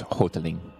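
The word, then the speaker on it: Houghteling: you pronounce that uh i would say hof telling right how's it spelled h-o-u-g-h-t-e-l-i-n-g it's hoteling footling flora hi my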